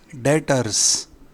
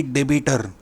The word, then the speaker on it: debtor: Customers को कहते हैं सन्ड्री डेटर्स, सन्ड्री SUN और डेटर्स, इसकी स्पेलिंग है DEBTORS। बी ये अक्षर साइलेंट है तो इसे कहते हैं डेटर, ना कि डेबिटर।